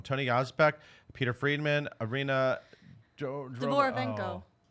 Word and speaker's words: Dvorovenko: Dvorovenko. Say it again? Dvorovenko.